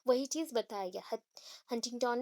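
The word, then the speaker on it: Huntington: हटिंगटन, that is हंटिंगटन, actually होता है हंटिंगटन, उसको हम फटाफट बोलते तो हटिंगटन हो जाता है, हंटिंगटन। ठीक है, एन थोड़ा सा प्रोनाउंस आप करोगे, जो हल्का सा करोगे यहाँ पे, HUN वाला वो एन, ठीक है, हंटिंगटन, उसको फटाफट करेंगे हटिंगटन।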